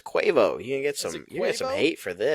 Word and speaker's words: Quavo: Uh I believe it's pronounced Quavo. No, it's Quavo.